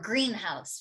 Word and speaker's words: greenhouse: A greenhouse is a compound noun. It's not just a house that happens to be green. In fact, it's not green. Greenhouse, like this, okay? So in compound nouns, it's actually the modifier that receives the stress, whereas this part, the head, receives less stress.